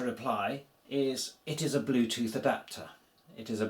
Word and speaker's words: Bluetooth: It's literally beca, it came into the language so fast that it got transported across into Polish, uh, written the same and pronounced the same as in English.